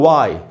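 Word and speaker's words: why: और उसके बाद दोस्तों वाई, क्यों, तो यहाँ पर भी W के बाद H है तो वो साइलेंट है।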